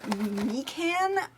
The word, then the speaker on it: mikan: and the orange is me can orange i think that's how it's pronounced m-i-k-a-n that's a mandarin orange